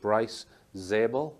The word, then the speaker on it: Bryce Zabel: Following Richard Dolan is a guy called Bryce Zabel. Is that the correct pronunciation? Yes, that's right. So, Life After Contact. Is this guy another contactee? No. Bryce Zabel is a Hollywood producer.